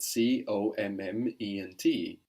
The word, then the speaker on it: comment: How in French is spelled C-O-M-M-E-N-T.